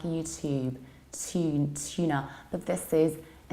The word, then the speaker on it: YouTube: In American accent, we pronounce it like YouTube. So we say to, exactly like in words tune, tuna, tube, or student.